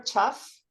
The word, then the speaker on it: tough: A pronúncia do F, né? Tá. Tough. Tá. Like this. Tá. Tough. Tá. Like this, tough. Tá. Tá. Yeah, F. It sounds like an F in Portuguese.